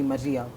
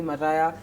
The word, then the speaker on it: Mariah: my mom calls me my mom calls me Maria that's my birth name Maria okay when I met Chi so the problem is my name is spelled with a h so the minute chy he goes Maria is Mariah so since he started calling me Mariah so everyone who I meet to calls me Mariah I know they know